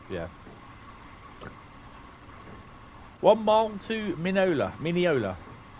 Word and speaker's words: Mineola: one mile to minola Mineola oh I say mini minnow uh it's wrong however I pronounce it